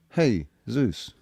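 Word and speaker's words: Jesús: But Spanish people pronounce it Jesus and then but but then it's Zeus. Hey Zeus.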